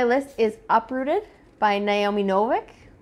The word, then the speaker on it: Novik: is uprooted by naomi novik um novik or novak that's how i think how you pronounce her last name this i believe is